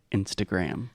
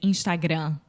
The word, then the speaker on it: Instagram: make when they say Instagram well I think that with the final m in Portuguese we don't close our mouth so we say Instagram without closing the mouth